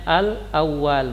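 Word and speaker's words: الأول: 1 Al uel awal Ah al-awwal ini dibacanya al-awwal maka untukmu anaknya Alula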